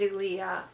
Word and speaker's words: Nosiglia: (pronounced Tchay Za Ray) Nosiglia (pronounced Nozigleea) of Turin."